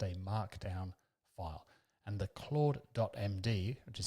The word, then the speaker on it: CLAUDE.md: And the Claude.md, which is how that's pronounced, file is the main file that Claude